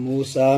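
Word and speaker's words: موسى: मूसा जाअकुम मूसा माशाअल्लाह मूसा में कौन सा रूफ साइलेंट है भाई या साइलेंट है आगे जी बिल बैनाती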